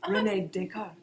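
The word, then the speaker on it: René Descartes: a French accent uh you said it correctly Renee deart I'm so proud of myself so Renee dick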